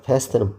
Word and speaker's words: fast: 여러분들 패스트 패스트 F 발음은 위에 있는이가 위에 있는이가 아래 입술을 아래 입술을 스치면서 윗니가 아랫 위로 다시 윗니가 아랫 입술 위에 있어야 됩니다.